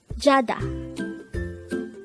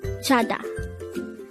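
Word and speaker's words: 자다: Jada. Jada. This is pronounced as a two-syllable word. The first syllable is ja, the second syllable is da. Pronounce it with me. Jada.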